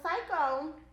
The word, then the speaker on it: Syeko: and achieve your dreams and it's spelled s-y-e-k-o so psycho i actually started it in